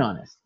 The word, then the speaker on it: honest: example n honest men the H is mute so we pronounce that and honest okay probably you already